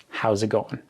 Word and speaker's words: how's it going: You will hear, how's it going? How's it going? So the S in how becomes a Z, and the T in it really isn't pronounced at all.